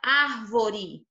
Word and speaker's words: árvore: Então, na palavra árvore, olha só, uré é a última, o vó é a penúltima e o ar é a antepenúltima, tá bom?